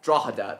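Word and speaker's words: Drogheda: That's easy to pronounce. I've mentioned that before. Drogader. Draada. Draada.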